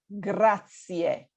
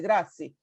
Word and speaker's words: grazie: people say grazie, grazie, grazie. No. It's grazie. There is an E at the end, and we need to pronounce it.